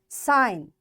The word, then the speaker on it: sign: Sign, G is silent.